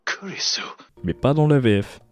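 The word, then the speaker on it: 紅莉栖: En effet, ça se prononce Kurisu, donc ça ressemble à Chris, et ça vient de là.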